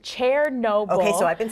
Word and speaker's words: Chernobyl: The site of the worst nuclear accident wasn't in Chernobyl. It's actually pronounced Chair-noble.